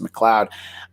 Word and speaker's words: McLeod: It's spelled McLeod. I was like 7 and I didn't know that it was supposed to be pronounced McLeod.